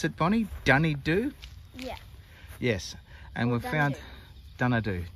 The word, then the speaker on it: Dunedoo: I think that's is that how you pronounce it, Bonnie? Dunedoo?